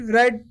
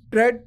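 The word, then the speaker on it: read: ये देखिए तीनों चेंज है इसमें, speak spoke spoken speaking, रीड रेड रेड रीडिंग। अब इसको हम रेड बोलते हैं, इसको रीड नहीं बोलेंगे, रेड जब हम इसको प्रोनाउंस करेंगे रेड।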